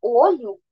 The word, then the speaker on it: olho: ele apresenta timbre aberto então quando a gente fala olho para se referir no no singular o ot tem uma tem um timber fechado quando a gente fala